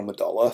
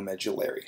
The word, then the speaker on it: medulla: then the blood is drained from the adrenal medulla through the central adrenal medulla in vain okay but the central part there